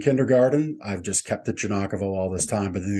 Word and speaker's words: Giagnocavo: you pronounce your surnam janako J janako so the G the second g is silent it is the second